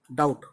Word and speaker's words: doubt: डाउट, अब देखो डाउट जो वर्ड होता है उसकी स्पेलिंग होती है DOUBT, लेकिन बी साइलेंट होता है, डाउट।